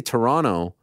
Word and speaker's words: Toronto: Because I say Toronto.